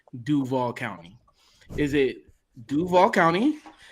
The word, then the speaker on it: Duval: Anyone who is from that part of the state knows that the absolute correct way to say it is Duva.